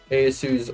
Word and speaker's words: Ieyasu: We can just clear everyone else off the map and then do Ieyasu's army.